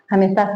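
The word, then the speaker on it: हं: बताया उसी तरीके से जब आप म बोलेंगे तो आप अपनी जीभ को तालू से लगा लेंगे तो इससे जो कंपन ओपन होगा।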